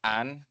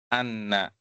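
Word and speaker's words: أن: Jadi kalau setelahnya fiil itu dibacanya an. Kalau setelahnya isim baru dibacanya anna.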